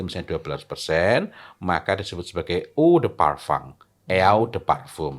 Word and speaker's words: eau de parfum: Kalau campurannya itu misalnya 12%, maka disebut sebagai eau de parfum, eau Mmm. de parfum. Tulisannya Eau de Parfum, bacanya apa?